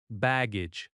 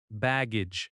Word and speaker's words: baggage: Baggage. Baggage. Bag gauge. Both have that soft second syllable.